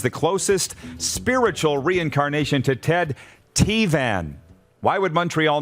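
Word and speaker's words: Ted Tevan: he was huge on montreal sports radio it's pronounced ted t van he used to have a slogan when he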